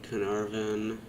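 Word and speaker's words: Caernarfon: money out of this area the mines at carnarvon that's how you pronounce it the mines wouldn't be too bad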